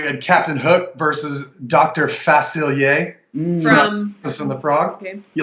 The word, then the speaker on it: Facilier: Facilier from the Frog. Okay. You like that French pronunciation?